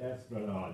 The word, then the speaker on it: Esplanade: But yeah, it's actually Esplanade. You can't even pronounce it or spell it right.